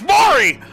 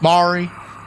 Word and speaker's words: Maury: you Jerry my name's Maury oh boy I told you Maury I told you I love when they can't pronounce his name too it's like Mari Mari is this stupid stuff